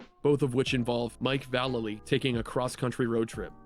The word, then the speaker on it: Vallely: With Mike Vallely. And yes, that's how you pronounce it.